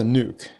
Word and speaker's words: NUC: So, what is a nuke?